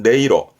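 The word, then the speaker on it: 音色: 음색입니다만은 발음이 어렵습니다. 이때는 네이로. 이때 음자 훈독은 네 갑니다. 네이로, 네이로.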